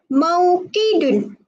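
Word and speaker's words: مَوْقِد: Okey, dalam bahasa Arab kita sebut dia sebagai mauqidun. Mauqidun. Mauqidun. Okey, ejaan dia.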